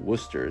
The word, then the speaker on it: Worcester: where is that right no it was actually named after Worcester England and over there they actually they pronounce it Worcester so would you look